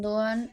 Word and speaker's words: Doğan: la pronuncian, pero nosotros, si la vemos en turco no vamos a escuchar la "g", así que son "Dooan" y Chaala".